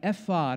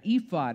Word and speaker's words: ephod: pomegranates on them there's the ephod or ephod it's pronounced a couple of different ways a sleeveless garment of